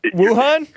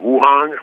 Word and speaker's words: Wuhan: Wuhan?